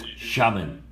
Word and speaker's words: Xiamen: How do you pronounce it? Xiamen.